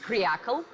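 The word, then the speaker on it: креакл: It's pronounced as kryakl, which is a pejorative for trendy-looking men and women who put their comfort above their country.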